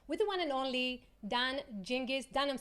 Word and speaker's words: Dan Gingiss: talking customer experience with the one and only done jinkies done I'm saying it right can you say